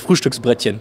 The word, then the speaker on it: Frühstücksbrettchen: But I really love this Frühstücksbrettchen.